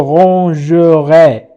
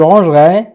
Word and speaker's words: rangerai: ranger يرتب، je rangerai، سأرتب أيضا تقرأ je rangerai، ولكن عندما ننطق نقول je rangerai ma chambre مثلا.